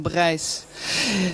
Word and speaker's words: Brijs: Alors là, il faut le prononcer Stefan Brijs. Je sais que vous êtes Brice. Vous dites Brice comme vous dites Digraaf, mais c'est pas grave. Mais si on veut le prononcer correctement, c'est Stefan Brijs.